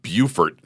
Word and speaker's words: Beaufort: August of 2009, I moved down to Beaufort, North Carolina, and Not to be confused with Beaufort, South Carolina. I learned that out very quickly. So Same I went spelling, different pronunciation.